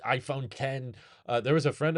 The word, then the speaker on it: iPhone X: glasses on Polar Express Apple actually pronounces it iPhone 10 uh there was a